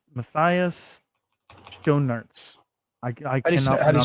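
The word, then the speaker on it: Schoenaerts: Um Matias Sonoma. No. Uh uh it's Matias Donuterts. I I cannot spell it.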